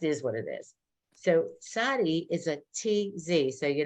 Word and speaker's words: Tsadi: Sadi. If I spelt it in English, a TZADEE, Sadi.